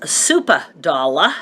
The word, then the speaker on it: Supa Dolla: Rogers meat market or grocery store it's Rogers supa dolla and I always tell people it is actually